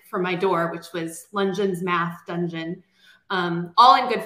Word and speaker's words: Lungeon: So I'm Lungeon, and Lungeon rhymes with absolutely nothing except dungeon, which, as a former